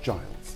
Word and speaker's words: Giles: Yes, it's Giles. Yeah. Giles. Yeah. I will not say Giles. In French, it's Gilles. It's Gilles. Gilles. But do you speak French? Not really, no. Okay, all right. But Giles, I want to thank you so much for